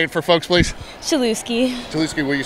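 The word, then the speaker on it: Chelewski: name can you say it for folks please chuki chuki will you spell that real quick one time c h e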